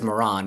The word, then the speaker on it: Miran: It's pronounced Miran, right? Miran? I think he says Moran, but Moran. Okay, Moran. Let's say Moran.